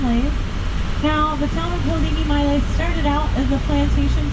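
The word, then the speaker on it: Haliimaile: So, we are currently in the little town of Hawaii, Maui, often mispronounced and called Haile Maui.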